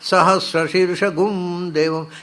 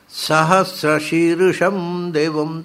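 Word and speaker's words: ಸಹಸ್ರಶೀರ್ಷಂ ದೇವಂ: ನೀವು ಎಲ್ಲ ಕಡೆ ಹೋಗಿ ಮಠಗಳಲ್ಲಿ ಎಲ್ಲ ಕೇಳಿ ಏನು ಹೇಳಿ, ಸಹಸ್ರ ಶೀರ್ಷ ಗುಮ್ ದೇವಂ, ಎಲ್ಲಿಂದ ಬಂತು ಗುಮ್ ಇರಲಿ? ಸಹಸ್ರ ಶೀರ್ಷಂ ದೇವಂ ಅದರ ಉಚ್ಚಾರ.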